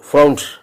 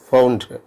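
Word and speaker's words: Freund: സുഹൃത്ത് എന്നതിനെ there ഫൗണ്ട് എന്നാണ് ജർമ്മനിൽ പറയുന്നത്. DER there ഫൗണ്ട്. FRUND. ഡിക്ക് ടിയുടെ ഉച്ചാരണം ഉണ്ട്. അവസാനം ഇരിക്കുന്ന ഡിക്ക് പലപ്പോൾ ടിയുടെ ഉച്ചാരണമുണ്ട്.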